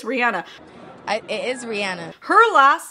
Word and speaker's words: Rihanna: didn't know Rihanna, and I believe it's pronounced Rihanna. I just watched like a whole bunch of clips with her pronouncing her own name, and it's Rihanna, but we all say Rihanna, or at least I always have, and a lot of people